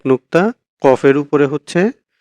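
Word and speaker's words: ق: ফা উচ্চারণ হয় হচ্ছে নিচের ঠোঁটের পেট সামনের উপরের ২ দাঁতের আগার সঙ্গে লাগিয়ে ফা, আর কফ হচ্ছে জিহ্বার গোড়া তার বরাবর উপরের তালুর সঙ্গে লাগিয়ে কফ, কফ।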